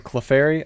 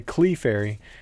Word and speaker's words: Clefairy: a lot of the comments are in there making fun of me, saying instead of saying Clefairy, I say Clefairy.